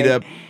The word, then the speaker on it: Bethesda: Definitely from Bethesda. Is that how you pronounce it? Yes, exactly. Bethesda, Pennsylvania.